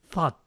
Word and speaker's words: thought: Su pronunciación solo consta de 3 sonidos. Thought. El primer símbolo es de la Z española, como en Zaragoza. El segundo símbolo representa a una A con los labios redondeados.